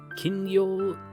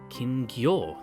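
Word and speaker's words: 金魚: Kingyo... Kingyo. There we go. I had the syllables in the wrong spot.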